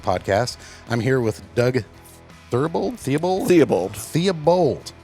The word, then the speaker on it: Theobald: I'm here with Doug Theobald. Yeah, just like it's spelled. Just like it's spelled. Sometimes you wonder. Do you? I do. Okay. I mean, it's B-A-L-D. Right. Bald.